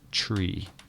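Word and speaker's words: three: The word 3 is pronounced tree, as in the oak tree.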